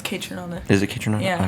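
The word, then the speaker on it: Kaytranada: or I don't even know how to say their name, but No, it's Kate Tronada.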